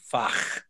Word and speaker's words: Fach: rude to outsiders, but I'll pronounce it correctly, Fach, F-A-C-H.